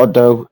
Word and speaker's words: Eudes: Seventh Generation starting is Count ODU ofu or Odo it's just it's pronounced it's spelled differently but it's pronounce I